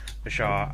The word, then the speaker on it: Ashar: We've also started to record the first episode of our podcast to accompany Lost Empire of Ashar, Asher, whichever we end up going with.